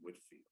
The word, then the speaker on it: Whitefield: wesley and george whitfield george whitefield i'd like to pronounce his name whitfield this great this great